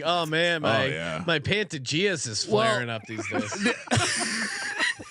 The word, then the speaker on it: Pantages: CJ is watching but CJ's pronunciation of the pandantages it's called Pantages and I've never heard anyone because CJ called it the Pantages which sounds like it